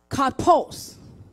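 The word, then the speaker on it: καρπός: So when you look at the word fruit, that word is pronounced kapos, literally meaning plucked.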